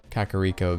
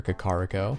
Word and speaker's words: Kakariko: shows of course uh kakariko village or kokariko however you want to pronounce it it shows hyrule castle